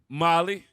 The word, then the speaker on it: Mali: Cote d'Ivoire, Guinea, Mali, Molly. Say it right. Mali, Next one.